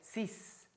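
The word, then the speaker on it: six: Fíjense que hasta el número 6, que termina en una X, no se pronuncia como X, se pronuncia como S. 6.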